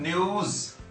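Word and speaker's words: news: न्यूज़पेपर की pronunciation आपको पता है ना। जब न्यूज अकेला होता है तो दिस इज कॉल्ड न्यूज, ज की साउंड होती है, और जब ये न्यूज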